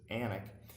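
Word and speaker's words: Alnwick: we live which is anak a ln w IC k they don't pronounce the w's i don't know why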